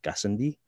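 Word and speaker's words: Gassendi: kilometer wide crater uh try to pronounce this correctly gascindi it's a french name gazendi it is a heavily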